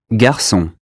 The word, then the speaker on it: garçon: Garçon. The S sound is C cedilla in garçon, meaning boy.